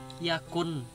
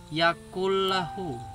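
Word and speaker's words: يكن له: yang mana tulisannya adalah yakun lahu, tapi dimasukkan ke huruf sesudahnya. Jadi nun ini tidak dibaca atau tidak diucapkan bunyi bunyi pantulan nun. Jadi langsung dibaca pantulannya ke lam. Nah, jadi dibacanya yakullahu.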